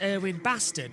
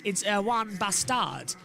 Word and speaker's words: Erwan Bastard: Well, the English pronunciation is Erwin Bastard, but it's actually because he's French. It's Erwan Bastard.